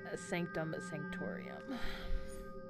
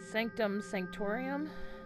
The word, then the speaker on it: Sanctum Sanctorum: this base, so let's check out IDoctor IStrange's Sanctum Sanctorum. I think that's how you pronounce it. Was it Sanctum Sanctorum?